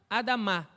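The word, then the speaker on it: אדמה: a palavra terra é a Dama a Dama perdão a sílaba mais forte é a final a Dama então Adão Adão da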